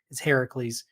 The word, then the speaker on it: Heracles: No, so Hercules is the Roman pronunciation of Heracles. Okay, So everyone says Hercules, but really, if you're using the Greek name, it's Heracles.